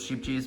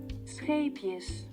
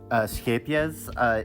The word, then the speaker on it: Scheepjes: But yeah, like I said, sheep cheese doesn't really pill that much.